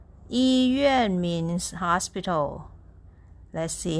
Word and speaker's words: 医院: It's pronounced this way. Yuàn, yuàn, yuàn, yuàn. Yīyuàn. Yīyuàn means hospital.